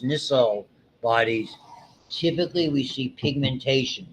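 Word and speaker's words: Nissl: When they say chromataphilic and this is pronounced nissell bodies typically we see pigmentation that red nucleus in the midbrain the substantia the black stuff.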